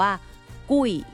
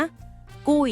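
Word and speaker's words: 贵: 8 คำ ว่า แพง ออก เสียง ว่า กุ้ย อีก ครั้ง นะ กุ้ย กุ้ย กุ้ย คำ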